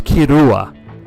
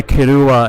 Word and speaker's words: Killua: is kirua all right so I know the k i l l is like the English pronunciation but you could go either way to be honest with you if it's Japanese but he goes by kuua and obviously the character